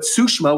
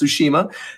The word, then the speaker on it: Tsushima: people are calling it not Tsushima but sushma which is also incorrect it is pronounced Tsushima that game looks kind